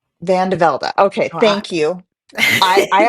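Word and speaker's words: Vande Velde: Well, we have CVV, which is Christian Vanel. Vanlda. Van DeVlda.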